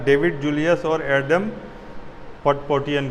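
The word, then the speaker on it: Patapoutian: जो इस बार का नोबेल प्राइज़ मिला है चिकित्सा के लिए, वो मिला है डेविड जूलियस और एडम पटपोटियन को। उसका पूरा प्रोनाउंसिएशन होगा पटापाउटियन, लेकिन याद रखिए जो भी आपको ध्यान रह जाए।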